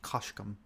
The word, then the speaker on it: kashkum: Like, in the video, they take the word swamp, which you see a lot in Magic is pronounced kashkum, with some sounds in it that a human voice can't create.